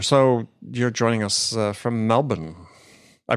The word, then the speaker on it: Melbourne: So you're joining us from Melbourne. I pronounced that correctly, sir. Right? Melbourne, Australia. That's it. Yes. There's no R in Melbourne, despite how you see it spelled.